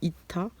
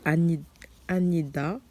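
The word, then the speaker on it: 아니다: D'ailleurs, hier, je vous ai dit ita, mais c'est da. Ça se prononce D. Donc, Anida.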